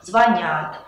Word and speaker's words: звонят: «Звонит», «звонишь», «звонят». Можете запомнить это следующим образом. Во все глаголы, где корень «звон», ударение никогда на корень падать не будет.